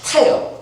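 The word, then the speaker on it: חטא: 우리말 성경이 죄라고 번역한 히브리어는 하타예요. 히브리어 발음으로 하타인데, 하타의 히브리어의 뜻은 뭐냐면 주어진 길에서 벗어났다 또는 관역에서 벗어났다라는 거예요.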